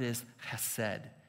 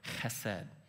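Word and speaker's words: חסד: in Hebrew the word ised to say it correctly it's almost like you're clearing your throat HED and here's what that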